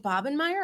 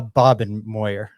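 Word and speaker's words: Bobenmoyer: ugly special teams play is it bobbin meyer or bobenmeyer uh bob and moyer bob and moyer i've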